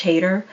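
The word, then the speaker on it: Hader: it but uh yeah that's how you pronounce his last name how do you Josh hater oh right yeah and I think is yeah I know is like hater e88 yeah something like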